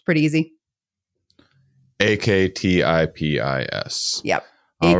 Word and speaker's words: Aktipis: Aktipis.